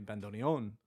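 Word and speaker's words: bandoneón: Um Xben says that they have never had their hands on a bandon. We have to we have to put the accent on the end. The bandon.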